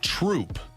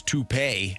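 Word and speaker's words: Troupe: By the way, everyone's saying that it is pronounced Troop. T-R-O-U-P-E. I didn't see the R. I thought it was toupee.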